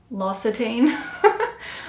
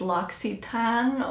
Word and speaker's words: L'Occitane: I believe it's pronounced, all these years I've been pronouncing it L'Occitane, but I recently Googled how to pronounce it, and I believe it's L'Occitane or L'Occitane. But yeah, this is the lavender bubble bath.